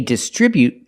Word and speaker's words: distribute: Example, they distribute their products from the distribution center. We see both words. They distribute their products with a stress on the second syllable.